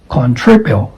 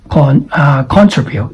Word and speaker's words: contribute: This is contribute because the stress falls on the second syllable. So it is not contribute. It should be like contributes.